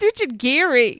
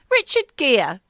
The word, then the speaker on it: Richard Gere: starring Richard Geary no who's Richard Geary well we'll go back here Richard Gere yeah it's how my mother pronounces his name that Richard Gere no